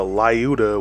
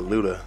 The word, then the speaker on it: Lyuda: the white death slash luda are the layuta which it is more commonly referred to in